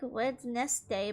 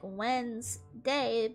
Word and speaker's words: Wednesday: And why is Wednesday spelled like that anyways? It's like Wed's nest day, but instead what? It's like when's day, but spelled wed nest day.